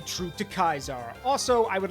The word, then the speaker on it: Caesar: In Rome they would have said they would have said Ius ulusio Kaisar or sorry sorry gas ulus Kaisar. So cuz they say it wrong. Yeah. So it is so to the Romans it is Kaisar.